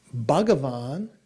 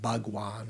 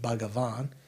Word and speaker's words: Bhagavan: Bavan is actually how it is in Sanskrit, three syllables, not not Banan or Bawan but Bavan uh is one of